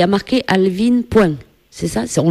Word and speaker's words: Alvin: voilà tu as rien changé moi je prononce Alvin c'est bien ça c'est pas Alvin ou c'est bien encore trop de quoi non mais Alvin ça va c'est vachement plus joli que à